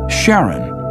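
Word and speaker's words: Charon: Christy suggested the name Karen after the Ferman of Pluto's underworld in Greek mythology but preferred to pronounce it Sharon more like his wife's name Charlene from the Motions of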